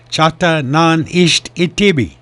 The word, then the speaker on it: Chata Nan Isht Itibi: film about his own tribe's Choctaw weapons called Chata Nan Isht Itibi, right?